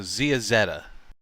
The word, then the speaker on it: Zeazetta: I don't think I ever realized until that moment that it's pronounced Zeazetta. Zeazetta, technically. Zeta is with 1 T. Ah, okay. Yeah. So Zeazetta is the right way to say it.